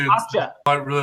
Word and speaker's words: Okja: You know, I can't remember how you say the name, but the Netflix Okja, or how do you say it? Okja.